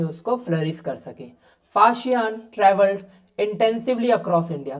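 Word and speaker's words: Faxian: Chinese traveller फाशियान pronounce S फाशी NA visited India in the fifth century CE ही सेट आउट on this long and difficult पिल्लगिम।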